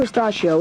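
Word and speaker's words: Astacio: Pedro Estachio is still another right-hander for the Dodgers. Pedro's from the Dominican Republic. And if you have trouble pronouncing his last name, just remember that pistachio rhymes with pistachio.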